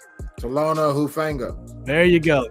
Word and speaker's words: Talanoa Hufanga: Dev, pronounce this guy's name. Talanoa Hufanga. There you go. Talanoa Hufanga, defensive back, San Francisco 49ers.